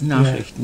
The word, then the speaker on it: Nachrichten: There was a newspaper, if I can pronounce the German correctly, Münchener Neueste Nachrichten? Yes, Nachrichten, yeah. Yes, that's yeah.